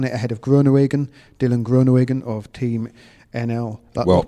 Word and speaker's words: Groenewegen: Kittel won it ahead of Groenewegen, Dylan Groenewegen of Team NL. Well pronounced.